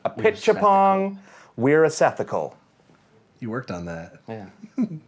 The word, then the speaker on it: Apichatpong Weerasethakul: So I'm going to pronounce it right now. Oh, it's Jesus. Apichatpong Weerasethakul. Apichatpong Weerasethakul. I wish I set up like that bouncing ball so I can be like Apichatpong Weerasethakul.